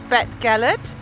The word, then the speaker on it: Beddgelert: me a little while to learn how to pronounce the name but I have learned it we are in vet Galit regular regular percolate it's super super picturesque it's